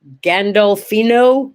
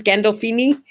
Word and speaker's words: Gandolfini: don't know um james i can never say his name right um gandalfino gandalfini james gandolfini the guy who played tony